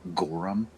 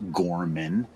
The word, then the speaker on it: Gorman: He was saying Gorham, it's Gorman. And I interrupted him as he was talking in front of the rest of the staff, doing a nice presentation to basically say, hey, the Ohio pronunciation is Gorman, not Gorham.